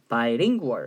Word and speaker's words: bilingual: 비lingual이라고 읽으면 안 돼요. bilingual 이렇게 읽어야 되는데 이 bi가 이게 두 개의 어원이에요.